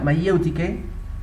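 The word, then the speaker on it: μαιευτική: Mayéutica, que el griego se pronuncia mayéutike, ¿okay?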